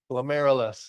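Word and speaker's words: glomerulus: Glilus. Yeah, you literally just say air in the middle, right?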